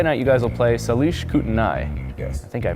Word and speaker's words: Salish Kootenai: And you guys will take them on Saturday night, but Friday night you guys will play Salish Kootenai. Yes. I think I pronounced that right.